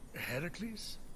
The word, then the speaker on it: Heracles: thing with your voice heracles yeah that that is how it's supposed to be pronounced seems like a lot